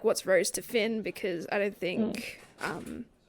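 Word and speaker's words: Fionn: what's your relationship to how do you pronounce his brother's name Finn yeah okay cool it's just like an Irish spelling oh yeah that's right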